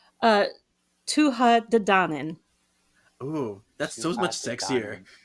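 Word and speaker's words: Tuatha Dé: so say say that again how is it pronounced uh TOA D oh that's so much sexier yeah stop it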